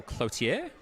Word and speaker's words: Clothier: And Clothier will come on, or Clotier. If you're a French-Canadian, we'll go with the Clothier pronunciation.